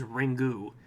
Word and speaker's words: Ringu: yeah it is but the Japanese pronunciation is ringu and then we just call it ring oh I see you're